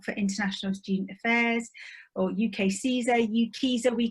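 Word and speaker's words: UKCISA: always reminds us that it's easy to remember because it rhymes with visa which is a lot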